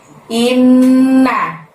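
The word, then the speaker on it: إِنَّ: Di ayat yang terakhir atau ayat yang ketiga ini diawali dengan lafaz inna. Innya ditahan, ditekan selama 2 harokat atau 2 ketukan, karena ada nun tasydid di sana ya teman-teman ya. Inna, naknya pendek.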